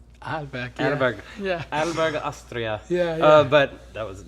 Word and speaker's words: Arlberg: always with so many Americans that I start pronouncing it Arlberg too. In my episode, I realized, I'm saying Arlberg. It's actually called Arlberg.